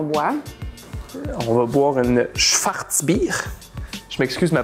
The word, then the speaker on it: Schwarzbier: On va boire une Schwarzbier. Je m'excuse ma prononciation. Non, c'est parfait. Schwarzbier.